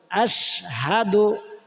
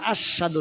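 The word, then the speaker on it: أشهد: আমার সাথে বলুন আশহাদু কেউ কেউ আশহাদু বলে। আশশাদু না আশ হাদু হামজা সিন জবর আশ হা জবর হাল পেশ দু আশহাদু বানান করার প্রয়োজন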